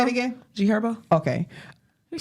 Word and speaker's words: G Herbo: G Herbo. Okay. You said her friend. And I asked you, was the H is silent? Yeah.